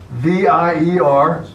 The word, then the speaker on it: vier: It's pronounced like an F. You have two numbers side by side. You have a V-I-E-R and F-I-M-F.